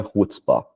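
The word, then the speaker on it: חוצפה: poder depois procurar e se escreve shuts Spa mas se pronuncia rspa e essa palavra basicamente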